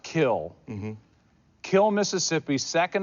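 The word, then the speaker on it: Kiln: re but it's Favre you grew up in a town spelled k i l n but it's pronounced kill mhm kill Miss Mississippi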